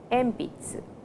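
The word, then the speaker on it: えんぴつ: e m Pizza so before P the sound n changes to M please remember it is M Pizza then we have Megan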